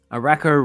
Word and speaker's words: Arako: Arako rhymes with whack. Oh, that's a good one. Whoops. So D comment here. Arako rhymes with wacko.